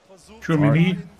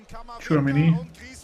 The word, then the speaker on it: Tchouameni: Tchouameni. How do you say it? Tchouameni.